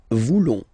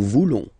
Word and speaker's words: voulons: Then for nous, classic ending, O-N-S, don't pronounce the S, just pronounce the ON. Nous voulons. Nous voulons.